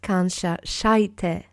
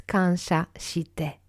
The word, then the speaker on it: kansha shite: So the I is pronounced I and not I. So it's not kansha shaite, right? It's kansha shite.